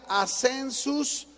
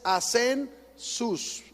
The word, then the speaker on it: assensus: Esta te la voy a deletrear porque se se pronuncia assensus, pero al principio a y luego lleva dos eses a sen sus son puras eses dos eses la primera